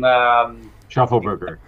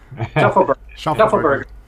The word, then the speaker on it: Schaufelberger: maybe will pronounce his name. Schaufelberger. Schaufelberger.